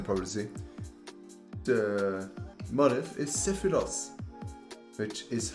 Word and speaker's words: Sephiroth: As you can probably see, the motif is sephiroth, which is how you pronounce it, okay? And I was in Japan and I learned that you pronounce it sephiroth and not sephiroth and not just sephiroth, which